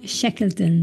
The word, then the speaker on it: Shekleton: Austin, Texas, our friend and executive coach Megan Shekeleton. Did I pronounce this correctly?